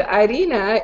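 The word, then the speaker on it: harina: are the two words arena is sand and Arina is flour so for the longest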